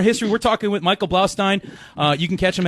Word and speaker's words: Blaustein: that's dude you're you're you're pronouncing my name right which is like I mean so much kudos to you no one pronounces it right they say blow dude I practiced that